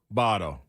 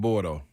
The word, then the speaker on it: Bordeaux: It ain't Bordeaux. Bardo. You gotta say it right. How about up north? How do you spell it? Oh, you spell it like Bordeaux. Bordeux. Yeah, but it's pronounced Bardo.